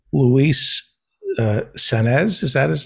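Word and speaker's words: Saenz: in question here is luis senes i believe that's how it's pronounced s-a-e-n-z and his phone number is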